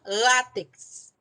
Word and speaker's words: látex: para fazer borracha então látex látex é uma paroxítona terminada em x portanto a sílaba tônica é o lá e eu coloco